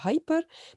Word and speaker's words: hyper: Alors, hyper, c'est le même en anglais, comme on dit hyper, mais en français, on prononce hyper, hyper, hyper.